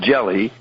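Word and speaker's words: Gelli: book called god's banker mr jelly pronounced jelly was born on april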